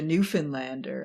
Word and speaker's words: Newfoundlander: Just as a bonus content for anyone who gets this far, it's the Newfoundlander.